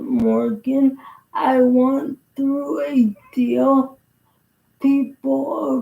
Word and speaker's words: Moragain: Kind of how with your help more aen, but I pronounce it Morgan.